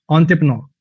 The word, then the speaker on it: entrepreneur: ऑन, इसका ना जो प्रोनाउंसिएशन होती है वो ई एंड ऐसे नहीं है, ऑन, ऑन से ऑन, ऑन्टिपनो, ऑन्टिपनो, ऑन्टिपनो, ऑन्टिपनो, ऐसे करके इसकी प्रोनाउंसिएशन।